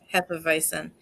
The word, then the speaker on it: Hefeweizen: um the half advice then which is pronounced I love Hefeweizen um and this is like Hefeweizen like the